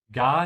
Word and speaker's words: gar: So whenever you have ga most of the time, if you want to sound natural, stretch the A. Yeah? Gar nicht. And make sure you open your mouth wide on the A.